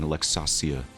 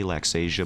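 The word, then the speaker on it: Laxasia: we will be fighting luxasia people say LAX Asia but I'm going to do her the honor of pronouncing her name correctly I I know haven't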